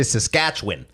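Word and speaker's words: Saskatchewan: to know the pronunciation have you ever been to saskatchwan cuzz they say saskatch win actually I didn't realize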